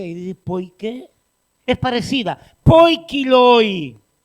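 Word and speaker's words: ποικίλοι: Hay algunos dominicanos que les cuesta la pronunciación, y en vez de decir por qué, dice por qué, es parecida. Poikiloi.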